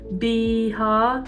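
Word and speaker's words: Bihar: found in beha and how do you pronounce beha beha like a bee so the black and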